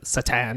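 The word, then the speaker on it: Šatan: satan that hockey player it was spelled like satan but he's from eastern europe or somewhere so it's like satan he's like hi i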